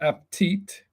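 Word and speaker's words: עַבְטִיט: Avtit. Avtit. They pronounce it aptit.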